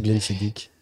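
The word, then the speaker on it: Glenfiddich: excusez-moimoi pour ma prononciation on dit Glen fidich ou Glen FIDIC ouais taper 1 c'est Glen FIDIC et taper 2 c'est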